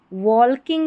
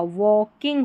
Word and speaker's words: walking: अब ये जो स्पेलिंग है इसमें L साइलेंट है, ठीक है, L साइलेंट है। जब भी L और K ये कॉम्बिनेशन रहता है तो मोस्टली जो L है वो साइलेंट रहता है, तो ये वॉल्किंग नहीं होगा, वॉकिंग होगा, वॉकिंग, ठीक है। यहाँ पर A के बाद में L भी है और A का उच्चारण ओ है, तो वॉकिंग।